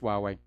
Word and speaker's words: Huawei: after the US slapped an export ban on hway uh subsidiary WWE it's pronounced wuwei uh subsidiary in Silicon Valley you know it's